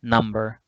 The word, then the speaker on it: number: For example, in the word number, the word number has 2 syllables. Which syllable gets the stress, the most prominent part? The first one, number. 1, 2, number.